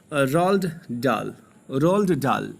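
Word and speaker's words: Roald Dahl: किस तरीके से इसमें इन्वेंशन की जाती है ये बताते हैं हमारे महोदय राइटर, जिनका नाम है रोल्ड डाल। ये एच साइलेंट है यहाँ पे।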